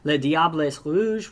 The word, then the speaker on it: Les Diables Rouges: Les Diables Rouges, which is the French pronunciation, and Rode Duivels, which is the Flemish pronunciation.